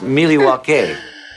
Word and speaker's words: Milwaukee: Actually, it's pronounced Milwaukee.